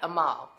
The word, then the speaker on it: Amal: It's our guy, Amal. He says, my name is Amal, and it's spelled like anal, A-N-A-L, but you take the N out and you put in an M.